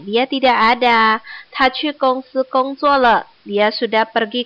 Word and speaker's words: 公司: Gongsi bacanya K-O-U-N-G, N-G. Gong gitu. Jangan bacanya O-U-nya barengan. Gongsi.